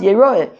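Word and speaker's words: יֵרָאֶה: We could still learn out Yireh, even though it's pronounced Yeroeh.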